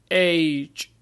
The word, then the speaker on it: age: Age. Age. And as you see here we have A and we have the magic E at the end. So the vowel will sound its alphabetical name.